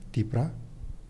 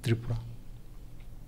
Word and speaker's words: Tipra: And it is relevant to note that even today, 1975 was how, even today, the hill people pronounce the word as Tipra, but not Tripura.